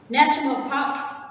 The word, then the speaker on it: national park: National park is a noun and the stress is on the word park, not national.